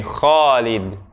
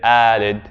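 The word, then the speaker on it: خالد: Now I'm not saying that everyone who has the name Khalid and says it Alid, Khalid, is like they're pronouncing their name wrong. It's their personal name. They figure out how to pronounce it themselves.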